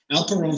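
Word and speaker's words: Alperon: the next guy's name it rhymes with al capone alpha rome family they literally are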